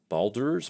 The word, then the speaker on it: Baldur's: dungeon dragons battle from baldur's gate or baldur's pretty sure that's how you say it um they released minsk